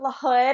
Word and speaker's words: Lahoud: so my name is L hood and I always say like a hood on your head and I do this